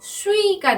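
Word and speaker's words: suis: 이렇게 발음을 하고요 동사는요 수위가 나왔어요 여러분 우리가 설명을 했는데요 발음은 수위 이렇게 발음하셔야 돼요 수의 발음 아까 두유할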